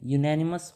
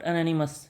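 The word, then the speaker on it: unanimous: the proposal was accepted by whom बाउ बाय यूनेनिमस vote यूनेनिमस vote what I am pronunciation is यूनेनिमस स इट्स यूनेनिमस इट्स नॉट एन एनिमस इट्स यूनिमस जब यू आ रहा है ये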